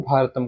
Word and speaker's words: भारत: North India में इसको भारत कहते हैं, अगर हम लोग प्रोनाउंसिएशन करेंगे तो भारत कहेंगे, और साउथ इंडिया में इसको भारतम कहेंगे, ठीक है।